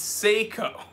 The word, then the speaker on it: Seiko: Movado I gotta update you pronounce ACO wrong it's Seiko yeah it's just like